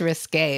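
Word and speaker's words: risqué: um less less RIS I'm sorry you you pronounce it okay risk undefined I think it's just risque a but the E isn't like defined yeah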